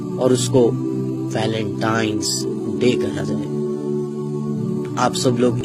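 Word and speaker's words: Valentine's Day: नाम पर गौर करें इसे जो आम कहा जाता है यह वैलेंटाइन डे है लेकिन हकीकत में जो इसका प्रोनाउंस एशन है वह है वैलेंटाइंस डे य वैलेंटाइन वाला दिन है और उस बदबख्त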